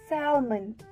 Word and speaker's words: salmon: People usually pronounce this word as salmon. Salmon. This pronunciation is totally wrong. The correct way to pronounce it as salmon. Salmon. The L to this word remains silent.